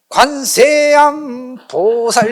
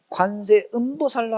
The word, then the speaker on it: 관세음보살: 보니까 관세보살 관세보살 하는데 관세음보살이라고 발음해야 되는데 기도하다가 이게 좀 세게 기도하면 여러분들 좋아하시잖아. 세게 얘기도 하면 관세음보살 이렇게 해야 되는데 좀 세게 하면 관세암 보살 이러니까 마치 듣기가 관세음이 아니라 관세암으로 들린 거야.